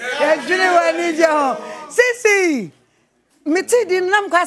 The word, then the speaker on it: Siicie: Sisi! Mutri didn't know what I say about Dion. Sisi. But the way you spell it, it's a guy. S-I-I-C-I-E. Sisi.